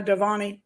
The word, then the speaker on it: Dewani: happened why why was Anna uh let me pronounce her name correctly Anna devani murdered okay why she was murdered on her